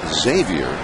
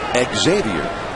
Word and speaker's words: Xavier: By the way, he apparently says his first name Xavier, and Nady, the Cubs first baseman, pronounces his first name Xavier.